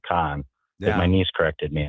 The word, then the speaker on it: Kahan: way before the break you pronounced it kahan and no and I I my my niece if you don't want jenzers to look at you like you're a complete idiot you got to pronounce it Khan that my niece corrected